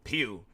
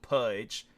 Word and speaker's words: Pugh: It's typically pronounced pew, often like to the sound of a church pew or a laser blast, while some may mispronounce it as pudge.